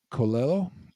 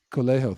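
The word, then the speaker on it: Coelho: I'm good all right this is like Paulo colello I'm probably mispronouncing that but anyway uh one day kalejo thank you one day you will wake up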